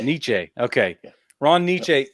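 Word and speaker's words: Necciai: Is that how you pronounce his name? Nietzsche. Nietzsche.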